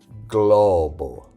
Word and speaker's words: globo: to the motion now when g l is followed by a different vowel like a o or u the pronunciation is different it's a clear separate G plus L sound just like in the English word globe.